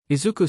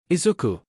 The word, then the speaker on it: Izuku: Izuku stopped and looked back to Zashi to see them look ridged.